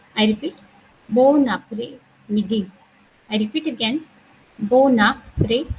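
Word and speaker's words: bon après-midi: So we in French language we have two words together, and if the second word starts with a vowel, we have to pronounce the whole word together.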